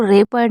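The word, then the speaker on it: rapport: देखिए, रे आर ए को रे पढ़ रहे हैं, डबल पी को तो आपको पता ही है, और इसको रैपो रो, क्योंकि टी यहाँ पर साइलेंट है।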